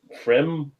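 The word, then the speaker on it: Pfriem: And then you got, I think the P is silent. Frem Lemon Zest Farmhouse Ale, Hood River, Oregon.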